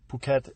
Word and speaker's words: Phuket: 14 minutes yeah so I noticed you said Phuket because that's how they say it in Thailand right so you're not